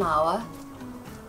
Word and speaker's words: hour: Et devant un mot qui commence par un son H muet. Par exemple, an hour, an honest person.